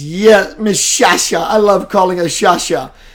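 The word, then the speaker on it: Sciascia: I didn't know how to pronounce her name. S-C-I-A, S-C-I-A. Skya, Skya, Skia, Skia. And one night she phonetically spells it and it said Shasha.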